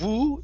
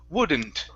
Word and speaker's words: wouldn't: and the word woodn't instead of woo it's uh W wouldn't wouldn't there you go okay